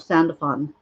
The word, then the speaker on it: Sandalphon: Now, Sandalphon's name has been said many different ways. I actually heard him say his name, and he called himself Sandalphon. And so I'm going to use that.